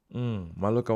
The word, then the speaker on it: Mallorca: Almeria and Mallorca. Is it Maloca or Mallorca? How do you pronounce it properly, Bianca? Tell me, how do you pronounce it properly? Oh, wow. Maloca 100%.